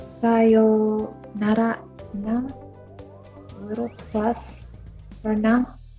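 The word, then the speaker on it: さようなら: And you don't really hear the oo sound. It just sort of extends the yo sound. Yo, yo. It just extends the kind of o sound from the previous character.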